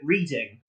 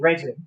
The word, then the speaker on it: Reading: We're in a town called Reading, or as a lot of automated like Siri and that sort of voice things like to call it, Reading, because it is spelled the same. And they just don't know how to spell it. It's actually called Reading.